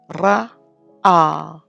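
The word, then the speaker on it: ראה: You have Resh, Quamats, Aleph, Quamats, Hey, and again Hey is silent, so we're looking at Ra, A.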